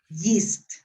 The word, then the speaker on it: yeast: yeast yeah remember that the combination of these two letters in english normally is not 100 but normally is pronounced like e yeast okay okay is it